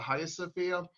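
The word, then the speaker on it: Hagia Sophia: hagia sofia and i'm intentionally pronouncing it hagia sofia instead of haya sofia in turkish the there's no g so that's why it's highest sophia in turkish um i i you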